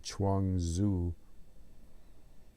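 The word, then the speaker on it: Chuang Tzu: book The Chang Zoo which is spelled CH n g Tzu Chang zuo which is uh a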